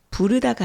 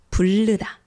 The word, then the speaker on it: 부르다: 예를 들어서 부르다가 아니라 불르다, 자르다가 아니라 잘르다. 이런 식으로요. 뒤에 리을 발음이 올 때 그냥 리을 발음하면 되는데 앞에 리을 받침을 넣어서 르 이렇게 발음을 하는 거죠.